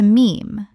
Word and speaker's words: meme: He took the Greek word mimeme, meaning something imitated, and shortened it to meme, to rhyme with gene.